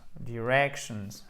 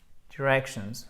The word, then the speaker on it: directions: Directions, avec le stress qui est ici. Directions. Okay, Directions, yes. On this one. Yes. Quand ça se finit en shun, vous avez le stress, donc l'accent tonique, qui se trouve juste ici.